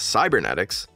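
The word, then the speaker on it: Cybenetics: Here Cybernetics, a new company that despite lacking an R, everyone seems to pronounce as Cybernetics.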